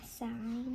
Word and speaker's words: sign: G N says N. So the G is silent basically. I G N says A U G H says a. Okay. Give him a shot. A line. A sign.